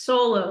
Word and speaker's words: Solo: first name it's okay it's solo like Han Solo when Kate and I